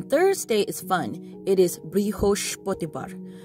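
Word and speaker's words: বৃহস্পতিবার: is fun it is brihosh bottibar because the s is in sh so like uh brioche bread is how i remembered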